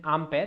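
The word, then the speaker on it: Ampère: There was a guy called Ampere. Its correct pronunciation is Ampere.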